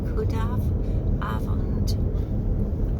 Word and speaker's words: goedenavond: And It's The afternoon, including the evening, is goedenavond. Good evening. Goedenavond. goedenavond. cross the roundabout. Goedenavond. M57. Something like that. Our pronunciations will be absolutely rubbish.